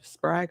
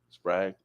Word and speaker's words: Sprague: Sprag or Sprague? Sprague. So I say Sprague. Sprague. In case y'all don't know what he's mean by Sprague, Sprague. Yep, and it's spelled SPRAGUE.